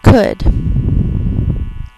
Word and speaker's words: could: of those exception words the OU is actually saying oo's third sound and the L is silent so we're just going